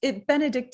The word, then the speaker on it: Benedicte: And it's Benedicte. Am I saying it correctly? Correct.